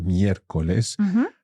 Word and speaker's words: miércoles: So again, our accent sits on that first E in the word miércoles. And we are stressing the third last syllable, or the antepenultimate syllable.